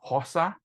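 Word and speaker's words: Xhosa: if it is wrong I think it's HOSA which is x h o s a um and the differences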